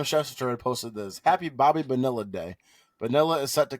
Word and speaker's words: Bonilla: Also, I think it's pronounced Bobby Bonilla. Oh, okay. I think I've heard that. It's not vanilla, dude.